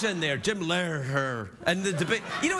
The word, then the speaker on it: Lehrer: Now, the host of the debate tonight was Jim Lehrer. Is that how you say it, Jim Lehrer? Yeah, Lehrer. He's got an H in there.